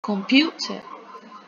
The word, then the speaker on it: computer: en escuchar ya entonces ya sabemos que tiene tildada la segunda sílaba computer y ahí vamos a